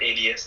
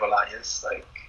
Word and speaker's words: Elias: I'm pretty comfortable with alias instead of Elias. Yeah, I think that's the proper way to say it.